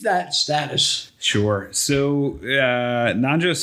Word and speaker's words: Nanjo: the reasons you'll hear about well can you pronounce his name for me nanjo okay why am i drawing forget about him